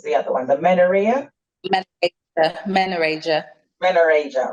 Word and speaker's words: menorrhagia: that you mentioned and help me with the pronunciation, the dysmenorrhea and what was the other one? The menorrhea? Menorrhagia.